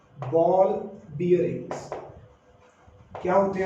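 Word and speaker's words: bearing: Common language में ना आप इसको बॉल बेरिंग, आप इसको बैरिंग बैरिंग बोलते रहते हो, वो आपका मतलब मिस प्रोनाउंसिएशन है। इट is ball बियरिंग नॉट बैरिंग, ठीक है।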